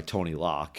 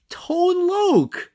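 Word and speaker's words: Tone Lōc: and you would not confuse juice played by Tony lock as a kid so um wait I'm sorry played by who just say it I don't know how do you say his name Tone Lo that's tone lo you don't remember tone L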